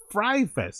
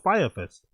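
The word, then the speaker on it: Fyre Fest: He pronounces it Fry Fest and not Fire Fest.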